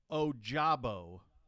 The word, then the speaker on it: Ojabo: If you see Ojabo, that's the one we want to be able to get that pronunciation right.